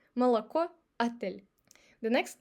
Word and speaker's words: молоко: But when it's unstressed, it's pretty close to A or this sound. Repeat after me. Молоко, отель.